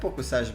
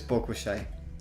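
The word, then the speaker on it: Pokušaj: So Toxic says it's Pokushai. Pokushai? Okay, makes sense. But I like Pokusaj better. It's very Romanian. Yes, Jovan also says it's Pokushai. Okay, so it's Pokushai.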